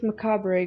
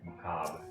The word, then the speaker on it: macabre: Oh no, to think this macabre graveyard for War Machina was once a part. What? Macabre, not pronounced. Oh, it's not macabre?